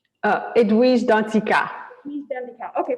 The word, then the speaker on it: Danticat: our author so let me make sure i pronounce right so edwidge dundeeka right uh edwise dantzika he's done the cow okay perfect yes so